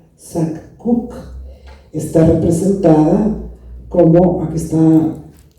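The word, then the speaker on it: Sak K'uk': que tiene su nombre María Preciosa, que se pronuncia Sac-Cuc, está representada como, aquí está la parte vectorizada por Rossi.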